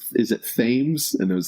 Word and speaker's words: Thames: saying like how do we pronounce is it thames and it was like i thought it was 10 minutes i missed an opportunity to tell you yes it's it's things i definitely thought it was teens i knew